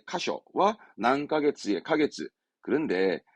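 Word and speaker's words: 箇所: 발음은 카쇼, 카쇼.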